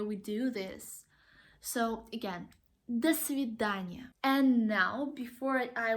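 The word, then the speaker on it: до свидания: are two words and we do not pronounce them like dole sous-vide Anya it's like the svidaniya that's fib Dania so I think you've noticed that in some words when we have the letter O we actually pronounce it as the sound ah and there are so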